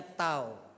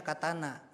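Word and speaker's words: 刀: di bawahnya ada begitu yang atas ini bacanya tau artinya pisau pisaunya bukan pisau dapur katanya kalau orang Jepang baca ini bacanya Katana tahu Katana ya bukan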